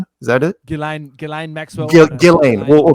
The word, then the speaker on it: Ghislaine: You don't need him and how you pronounce her name? Ghislaine? Is that it? Ghislaine Maxwell.